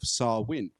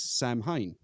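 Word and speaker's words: Samhain: And also, I got some shit before for my pronunciation of Sarwin, where I read it last time as Sam Hain, because Oh. I read it as it's spelt, because that's what English people do.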